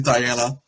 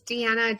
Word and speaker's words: Diana: lot of different pronunciations i want to say diana but i could be wrong it's deanna deanna diana how are